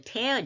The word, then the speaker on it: tear: 발음을 조심해야 되겠죠. tear를 너무나 잘 알고 있어요. 예, 그래서 이건 눈물이에요. 그리고 눈물은 tears, 눈물이 줄줄 나오니까 tears, 복수도 될 수 있죠. 그러나 본문은 to 다음에 왔으니까 동사예요. 이럴 때는 발음이 달라집니다. tear입니다.